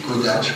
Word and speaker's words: Kodály: En fait, ça se prononce, paraît-il, Kodály, comme quoi Wikipédia, c'est quand même intéressant parce qu'on y découvre des tas de choses.